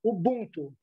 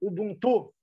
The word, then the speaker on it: Ubuntu: sobre a filosofia africana Ubuntu, ou Ubuntu. Ubuntu, eu acho que é a palavra dita no idioma original africano, né? E Ubuntu é como se passou a pronunciar aqui no Brasil.